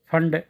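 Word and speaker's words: Pfund: series second बामर lines third फंड lines Ps silent फंड lines fourth bracket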